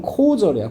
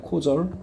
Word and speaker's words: causal: 자, 이거 캐주얼 아니야. 캐주얼. 우리 옷을 뭐 그 캐주얼하게 입었네 할 때 그건 이거야. 발음을 해봐야 돼. 캐주얼. 얘는 코절이야. 코절. 알겠지? 코즈의 형용사입니다. 알겠지?